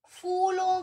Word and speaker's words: फूल: अब देखो, कुछ लोग इसे कहते हैं फूलों के नाम। फूलों के नाम बेटा, ये फूल नहीं है, ये है फूल। हम इसे प्रोनाउंस करेंगे फ, ठीक है। जब आप ये लिखते हैं ना, तो ये फ नहीं है, ये है फ। तो आप इसे फूलों के नाम नहीं कहेंगे, आप कहेंगे फूलों के नाम।